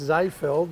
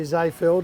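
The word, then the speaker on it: Seefeld: that it does and it's actually pronounced zayfeld but i'm not going to be too critical of you zayfeld it's a little ski village just north of innsbruck in austria and yeah he's a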